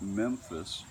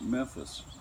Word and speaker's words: Memphis: Not Memphis, the first syllable fully pronounced and ending with a rounded labial M, but more like Memphis, which you say quicker